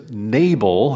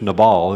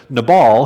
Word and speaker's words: Nabal: the beginning of this story his name is nabel as we often pronounce it in english nabal is actually more of the appropriate way to pronounce his name so nabal his name means fool how many of you